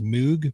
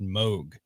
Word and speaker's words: Moog: the synthesizers uh moog everyone says moog but it's really pronounced moog no kidding really robert moog but we all say moog um anyway there's um